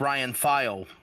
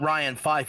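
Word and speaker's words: Ryan Vail: It's pronounced Ryan File. I know it makes no sense. Thank you, Smokey014. Okay, so it's not Ryan Fife, it's Ryan File.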